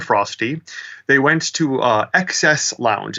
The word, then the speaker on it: XES: um Bob and frosty they went to uh excess Lounge it's spelled capital xes capital capital capital xes uh